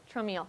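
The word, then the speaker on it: Traumeel: So, and is it pronounced Trameal? Trameal, okay, I was gonna say, I don't personally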